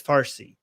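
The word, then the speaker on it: فارسی: And the Arabized version of the word Parsi is Farsi, right? So Persian in Persian is Parsi, but because the Arabs don't have the word pe, they turn Parsi into Farsi, right?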